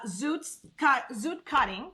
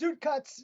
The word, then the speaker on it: Zoot Cuts: So why don't we just start by saying you are the president of Zoot Cutting, right? Did I pronounce it right? It's Zoot Cuts is the name of it's my corporate name, yeah.